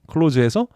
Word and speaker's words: clause: close에서 CLAU로 O가 아니라 AU로 변했어요. 이걸 close, 이것도 close 이렇게 발음이 돼요.